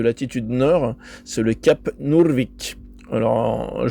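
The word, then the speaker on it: Nordvik: nord, c'est le cap Nurvic. Alors, je le prononce à la à la scandinave parce que c'est un mot scandinave mais ça veut dire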